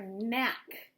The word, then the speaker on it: knack: year for my family k is for mac it's a silent K a talent or a